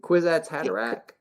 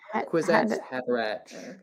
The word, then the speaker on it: Kwisatz Haderach: However, I don't know if do you say it right in your video for the thing, the Kwisatz Haderach. Quizzy. Kwisatz Haderach.